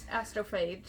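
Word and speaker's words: Astrophage: which I'm not even going to try to pronounce. They are astrophase.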